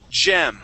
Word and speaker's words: gem: Uh this word here is gem. So it's going to be that that G makes a J sound.